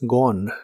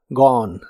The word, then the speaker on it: gone: En el participio es gone, se pronuncia sin la e del final y la o es como una o profunda. Gone.